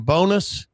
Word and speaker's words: Bowness: Do I pronounce his name Bowness?